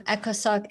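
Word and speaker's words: ECOSOC: Spell that word. Echosto. I've never heard that word before. Echos. It's um echosoc.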